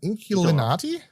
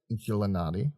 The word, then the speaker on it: Inkulinati: Inkulinati? Inkulinati? Inkulinati? Yeah. I think it's meant to be Illuminati, but instead with Inkulinati, yeah.